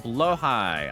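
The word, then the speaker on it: Blåhaj: Blahigh pronounced blowh high.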